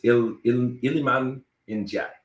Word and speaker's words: Iliman Ndiaye: I think it's Iliman Ndiaye.